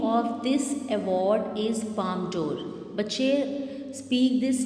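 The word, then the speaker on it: Palme d'Or: So it is basically international award, and बच्चे try to learn its correct pronunciation. It is Palm d'Or and it is Cannes. Palm d'Or, Cannes.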